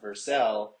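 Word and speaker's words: Vercel: so I've seen yeah I've seen the CEO versal running in and out a couple times which was cool um but yeah so I know it's pronounced versel only because uh I've heard them talking here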